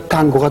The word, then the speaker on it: tango: 탱고보다 딴고가 더 음악적이잖아요.